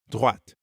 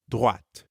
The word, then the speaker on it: droite: À droite. Notice that in droite, we're hearing the same oa sound as in toilette. Toilette. Droite. And make sure you're pronouncing the t sound at the end of droite.